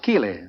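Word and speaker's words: Keighley: Uh, but my ancestors came from the English town of Keelley. K E L E Y.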